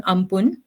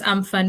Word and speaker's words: Amphan: Now let's discuss about the super cyclone in May, which is called, it's actually written as Amphan, but I read somewhere it's pronounced as Ampun.